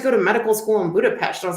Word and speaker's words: Budapest: Everyone says Budapest, but it's pronounced SH, Budapest.